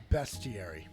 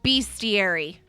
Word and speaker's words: bestiary: Yeah, it is pronounced bestiary. It's bestiary. It's a beast.